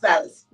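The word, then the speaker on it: Vallas: I said his name wrong. Is it Vallis? Vallis.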